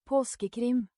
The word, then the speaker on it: Påskekrim: I will do what I did with Christmas, and I'll go get someone pronouncing it right and hack it in. Yeah, let's do that. Påskekrim.